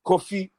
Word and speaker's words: Kofi: on this show man like coffee all right it's coffee say like that coffee coffee coffee coffee yeah that's how you say it i don't know what